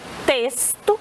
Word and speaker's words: texto: E texto, que é com X, mas tem um som S.